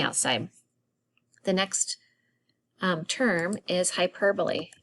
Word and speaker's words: hyperbole: the next term is hyperbole h-y-p-e-r-b-o pronounced hyperbole this is an extreme